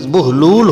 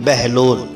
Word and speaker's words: بہلول: سے پامال نہیں ہوئی۔ ناظرین، بہلول کی بے پر پیش ہے اور ہے پر جزم ہے، لام پر پیش ہے، اس لیے میرے مطابق اس کا صحیح تلفظ بہلول ہوگا نہ کہ بہلول، لیکن ہمارے ہاں بہلول